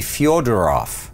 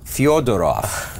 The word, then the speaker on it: Fedorov: right yeah it's really fueled her off fueled it off Wow fyo not f e d okay and the reason why that happened is because the Russian language curiously has two letters actually three total but two that look like our letter E okay one of them